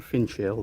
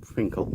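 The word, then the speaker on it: Finchale: going from Finkel Priory oh it's written Finch Hill where it's pronounced Finkel I'm sure there it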